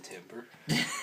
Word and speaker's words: timbre: You mean timbre? Nah. Timbre. Timbre is how you pronounce it.